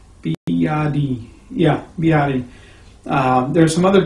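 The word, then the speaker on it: 比亚迪: Biadi, I think is how they pronounce it there. Biadi.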